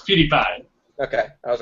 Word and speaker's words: PewDiePie: Kudai Pai. Is that how you say his name? I think it's PewDiePie. I think it's PewDiePie, but that's just me. It's PewDiePie.